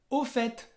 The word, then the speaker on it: au fait: Sí, Fabi, au fait, que es por cierto. Y en au fait, la T final la vas a pronunciar.